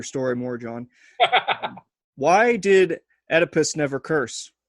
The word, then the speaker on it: Oedipus: Why did Oedipus never curse? Or Oedipus, however you pronounce his name. You got it right the first time.